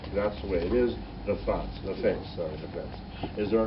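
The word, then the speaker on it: נפץ: For the word for explosion is nafas. Did I say that right? Nafas? Okay, nafas. Yeah. So nefetz.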